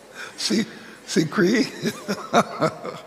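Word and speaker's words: CCREEE: um Dr Gary Jackson of how do you pronounce c c r e e see see Cree okay oh representative from the Jamaica Public Service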